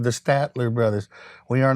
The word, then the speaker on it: Statler: the brothers like that here's the mispronunciation statin stratton station stenton stattler there's your one right there we showed up one time it was a poster with us and it said the statler brothers we are not